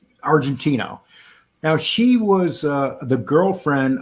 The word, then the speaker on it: Argentino: Argentina, would you say it like that? Argentino. Argentino.